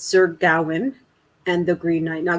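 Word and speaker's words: Gawain: book uh it's sir gowin and the green knight now gowin uh i'm pronouncing it that way there is a debate as to how to properly pronounce that name but i'm going with gowan uh you guys can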